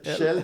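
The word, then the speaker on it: Kjell: Ça s'écrit K J E L. Chel. Ouais mais c'est Chelle Daline.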